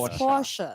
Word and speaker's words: Porsche: Again, the E. Don't forget the E at the end. It's Porsche. What does Porsche mean? It's not just Porsche.